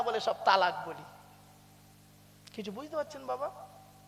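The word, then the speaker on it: طلاق: তালাক। বলেনি বাবা? বলুন না একটু। তালাক শব্দটা কিন্তু তালাক নয়, শব্দটা হলো তলাক। ওর আরবি উচ্চারণ হলো তোয়েল আমারি কপ, বাংলা উচ্চারণ হলো তয়বাই লয়াকার ক।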